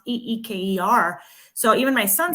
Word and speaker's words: Iker: spelled e not spelled i k e r but it's pronounced e-e-k-e-r so even my son